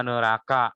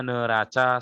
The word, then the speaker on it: neraca: Ya, ingat, walaupun tulisannya neraca tidak boleh dibaca neraka ya. Dibaca saja neraca sesuai ejaan.